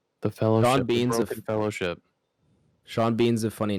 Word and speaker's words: Sean Bean: Sean Bean's a funny name because Sean and Bean have like the E and the A, but like it's Sean and then pronounced Bean, differently.